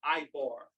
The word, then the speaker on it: Ibar: The second word is Ibar.